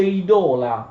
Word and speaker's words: idola: Quella O è lunga nella penultima sillaba, conoscete il latino e le regole dell'accento in latino. Si produce idola, plurale di idolum, non pronunciate idolum oppure idola.